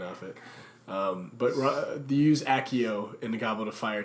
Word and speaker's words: Accio: Why is it pronounced Accio with 2 C's? Just Accio. Well, that's how Jim Dale says it, and that's how I like it.